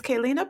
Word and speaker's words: Kellina: guest with us excuse me her name is kaylina Powell did I get that right yes you